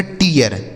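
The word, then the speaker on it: tear: ठीक है, तो अगर किसी भी शब्द में डबल ई या ई और ए के साथ आर लिखा गया हो तो इन दोनों का उच्चारण हमें क्या कर देना है, ईया।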